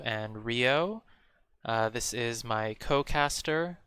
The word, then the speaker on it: Ryooo: here are david w and rio it is pronounced rio and not ryu because uh french so all right technically it